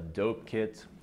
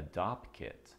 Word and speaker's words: Dopp kit: may have noticed is I called it a Dopp kit not a dope kit or a toiletry bag which this is a